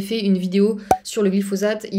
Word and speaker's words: glyphosate: glyphosate justement euh alors à l'époque je prononçais glyphosate parce que je venais de d'Amérique latine et là-bas c'est comme ça qu'on le prononce je sais qu'il y a plein de gens qui sont moqués de moi dans les commentaires de ma façon de prononcer glyphosate donc maintenant je m'efforce de faire comme s'il y avait un Z même si ça n'est pas naturel pour moi donc le glyphosate